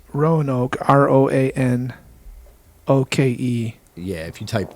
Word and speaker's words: Roanoke: How do you spell that? Croanoa? It's Roanoke, Roanoke.